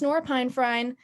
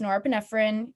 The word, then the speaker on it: norepinephrine: which is your fight or flight it's not pronounced norapinephrine it's not pronounced nor fenifeni it's norepinephrine but you can say monorafinifena if you want